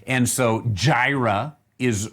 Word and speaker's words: Jireh: get it right here yaira yaira now that then is uh where we have come right here yaira that we have this yara we would say jira and and and jira there